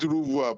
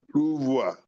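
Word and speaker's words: renvoi: We pronounce it ruvoir but we spell it ru e n v o i ruvoir.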